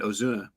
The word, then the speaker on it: Ozuna: away from but it's uh anyway kunya and Ozuna is is how you say it there um